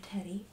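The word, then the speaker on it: Teddee: Everybody has their teddy or their favorite little childhood plushie, and this was my childhood teddy, and her name is in fact Teddy, but it is spelled T-E-D-D-E-E.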